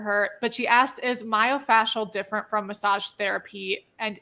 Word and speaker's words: myofascial: she said I get is myofascial the right way to say it yeah my so she said